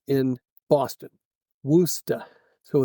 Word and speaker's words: Worcester: How's it pronounced in Boston? Woosta.